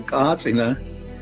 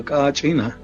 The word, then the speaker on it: kachina: The cacina is pronounced in different ways throughout in Hopi and other pblo. Some places they call katina and other places they call kachina.